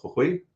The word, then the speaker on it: Jujuy: Left Coast lefty, all the way from LA, and your father's from, I think it's called Jujuy, right? That's how you Jujuy, yeah, pronounce it.